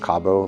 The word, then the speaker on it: Cabeau: way and I said Kabo. Is that correct? Uh you can actually say it the way you want it, but uh technically it's pronounced Cabo, like Cabo San Lucas.